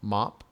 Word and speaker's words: Map: I'll go all right my character's name is pronounced mop even though it's spelled map it's Vietnamese for fat